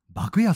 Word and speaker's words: 麦や: 店の方は幕屋さんと言いますえ麦の家と書いて幕屋さんですねえまお